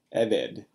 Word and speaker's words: eved: Servant, eved, eved. Segolet noun. It's got Segels and is accented on its first syllable.